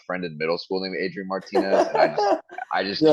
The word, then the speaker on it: Adrian Martinez: It is Adrian Martinez. Yeah. Okay. I think the reason I don't want to call him Adrian Martinez is because I had a friend in middle school named Adrian Martinez, and I just You're like, can't get nah,